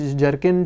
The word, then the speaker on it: zircon: अपने सामने देख रहे हैं इसको बोलते हैं जरकन जिसकी स्पेलिंग शुरू होती है जेड से जो नकली रत्न होता है उसको जर्किन बोला जाता है और जो असली पत्थर रहता